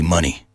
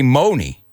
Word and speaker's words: Money: what's your name Eddie Money I hope you guys don't say mony are you are you those students that pronounce mony mony no you know how to pronounce honey right honey what bears like